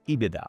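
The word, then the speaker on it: EBITDA: Pronounced as IBIDA after revenue and gross profit, IBIDA is one of the most widely used metrics in financial analysis.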